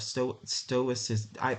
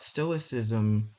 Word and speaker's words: stoicism: now, but what that makes me think of, stoicism, my tongue is twisted, stoicism.